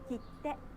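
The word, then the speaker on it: きって: Kitte, きて、 kitte, き kitte. て、 Did you notice that there is a pause in the middle? き The pause て。 needs to take one clap.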